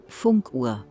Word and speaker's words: Funkuhr: Funkuhr, pronounced Funkuhr, is German for a radio clock.